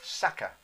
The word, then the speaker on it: sacca: It's sacca. So it's a sack. So basically it's a sacca. S-A, I might have the pronunciation incorrect.